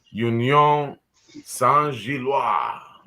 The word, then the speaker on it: Union Saint-Gilloise: But next up on our list of opponents is Union Saint-Gilloise. I'm just guessing on the pronunciation.